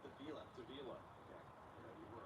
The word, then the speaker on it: Davila: the Seattle monorail, but I think it's Davila, according to their pronunciation guide. Rich butchered it. Butchered it. Sorry, Rick. So we're going with Davila.